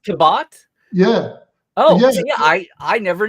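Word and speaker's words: Cabot: talking about C Henry kin yeah is it pronounced kabat yeah oh I I never knew that just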